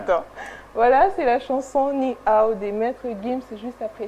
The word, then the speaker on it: Ninao: Voilà, c'est la chanson Ni Ao des Maîtres Gims juste après ça.